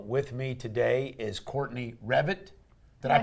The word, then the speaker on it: Reffett: And with me today is Courtney Revit. Did I pronounce that right?